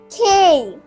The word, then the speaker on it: K: এটা কে আর এটা খ দিয়ে রসইও আছে, তাই এটা সম্পূর্ণ ভুল, এটা সম্পূর্ণ ঠিক। তো এটা হচ্ছে ভুল। সঠিক উচ্চারণ হচ্ছে খেই, খেই।